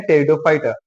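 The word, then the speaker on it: Pteridophyta: उसे हम पी से लिखते हैं लेकिन पढ़ते हैं टी से। देखिए ये एक टेरिडोफाइटा प्लांट्स का यहाँ स्ट्रक्चर है। ये हमने पी से लिखा है लेकिन पढ़ेंगे टी से क्योंकि पी साइलेंट है। इसे हम कहते हैं टेरिडोफाइटा।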